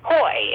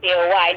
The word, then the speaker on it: Coye: up to me and he said my name is koi and I said oh okay not forcing my mind I'm going oh it's co-wide he goes no it's spelled exactly like yours and I was like